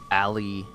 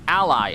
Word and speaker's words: Ally: Xbox ROG Alley X. Hands-on with the Xbox Alley X. Why is it... Or is it Ally? Am I calling it the wrong... Ally. Wow, I've been pronouncing it wrong. Xbox Ally X.